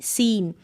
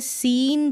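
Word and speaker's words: seen: Last में साइलेंट ई, सीन। ईव में है, ईव पढ़ेंगे और लॉन्ग ही उच्चारण हो रहा है। जैसे सीन पढ़ रहे हैं हम, सिन नहीं बोल सकते, लॉन्ग है ई का उच्चारण इसलिए।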